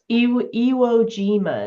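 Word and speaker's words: Iwo Jima: Allies furiously fought the battle for That's ewogima is how you say that.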